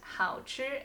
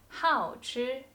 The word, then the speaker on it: 好吃: It's not 好吃 anymore. 好吃.